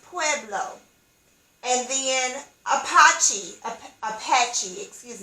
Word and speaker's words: Pueblo: p as in paul u-e-b-l-o that is pronounced pueblo and then apache apache excuse me apache indians